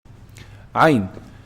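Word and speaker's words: عين: Ain. Ain is pronounced from the middle of the throat.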